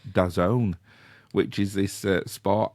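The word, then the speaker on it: DAZN: And I was logged into uh well I was c I thought it was dazzen d a zn but apparently it's pronounced dazone which is this uh sport app which you can log into and watch the NFL games live.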